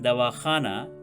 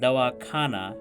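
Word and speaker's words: दवाख़ाना: remarked that there is a difference between dawakhana, meaning pharmacy, and dawakhana, meaning taking medicine. The difference in meaning is because of the difference between the pronunciation of kha and ka.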